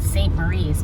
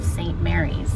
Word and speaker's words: St. Maries: around the lake so it looks like it's called st maurice but it's called saint mary's the way it's spelled wolf lodge bay and